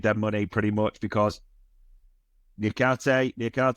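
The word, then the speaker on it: Niakaté: And Forest also made their money pretty much because Niakate, it's pronounced, the centre-half is set to complete his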